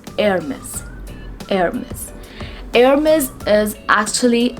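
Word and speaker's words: Hermès: is air miss hermes the sound of h is going to be silent in this word we are not going to pronounce h sound it is air miss hermes heir miss is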